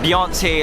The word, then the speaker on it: Hirzi: and the core of singaporeans with his ship beyonce level comparison gravitas interesting my name is i